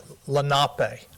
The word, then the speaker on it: Lenape: Yeah, we were there with the Lenape yesterday. It's the correct pronunciation.